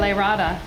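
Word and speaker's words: lyrata: All the people that love their ficus lariata, is that how you say it? Yeah, lariata.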